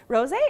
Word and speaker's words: rosé: Rosé is big right now. It's been big for a little bit because, I mean, it rhymes with all day, so rosé all Rosé all day.